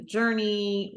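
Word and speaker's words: Jorni: more about what the journey j j o r n i but pronounced like Journey right exactly awesome and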